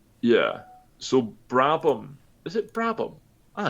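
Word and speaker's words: Brabham: So Brabom, is it Brabom?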